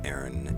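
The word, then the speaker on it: Eryn: Aaron is spelled E-R-Y-N. Feral by Aaron.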